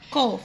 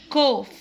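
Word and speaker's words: cough: كحة او سعال كوف، كوف. حرف السي بننطقه كي، صوت الك، والجي اتش اف. الجي اتش بنطقهم اف. كوف، كوف.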